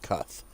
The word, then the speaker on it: Kutkh: playing through one I'd cuff we're gonna go with cuff say that the K is the second K is silent here it is uh